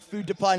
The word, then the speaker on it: Food to Pine: up there Mark Francis food to Pine not food to pin but food to Pine is another horse I'm